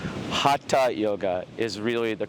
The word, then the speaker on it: Hatha: We say Hatha or Hatha Yoga, but if you can say like duh, and put a T on it, ta, Hatha Yoga is really the correct way of pronouncing it.